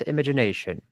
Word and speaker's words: imagination: J. The sound maybe J doesn't exist in Russian, but it exists in better Russian language.